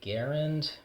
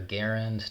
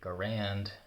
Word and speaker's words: Garand: By the way, I do say Garand because that's the way Mr. John C. Garand, the inventor, pronounced his name. I'm aware some people may consider Garand to be the man's name and Garand the rifle's name.